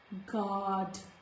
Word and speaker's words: guard: So biscuit, guard. There is no sound of letter U.